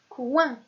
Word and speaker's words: coin: Si je prends la lettre C et je lui rajoute le ouin, qui s'écrit O-I-N, j'obtiens la syllabe coin, comme le mot le coin. Et ici aussi, nous avons la lettre G comme lettre muette à la fin du mot.